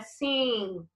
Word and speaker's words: sing: Lembra que ele termina com a letra G, mas a gente não pronuncia o G, tá? Então é sing, com o G mudo, tá?